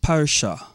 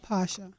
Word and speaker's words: Pasha: And next to her, on my left, we have Sister Aliyah Parsha. Assalamu alaikum, Sister. Did I pronounce the name properly, Sister? Aliyah Pasha.